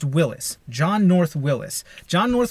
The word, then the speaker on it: Willys: Willys, right? It's the Willys MB, the Willys Overland Company. You're actually pronouncing it wrong. Willys is a guy's name, and it's pronounced Willis.